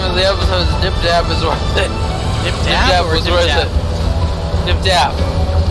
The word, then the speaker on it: Dip Dap: The name of the episode is Dip Dap is worth it. Dip Dap? Dip Dap was worth it. Dip Dap. Dip, like, spelled like 70%. Cheese dip. Yeah. And Dap, like, dapper. Like D-A-P.